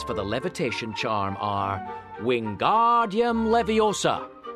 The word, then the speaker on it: Wingardium Leviosa: away with your hand Wingardium Leviosa the magic words for the levitation charm are Wingardium Leviosa be sure to make the are nice and long say the incantation aloud